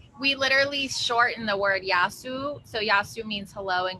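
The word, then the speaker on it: γεια σου: we literally shorten the word yasu. So yasu means hello and goodbye, and we just say ya. So yasu spelled like with a in English as a ya.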